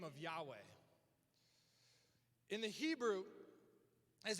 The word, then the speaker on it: Yahweh: And these Jewish mystics, they believed that how to pronounce that name, YH, is an inhale, WH, exhale, Yahweh.